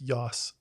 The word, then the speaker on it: Joss: full on tv show it's yoss it is nice the nordic pronunciation like i like firefly